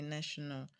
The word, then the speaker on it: nation: The stress is going to be on the first syllable, N-A.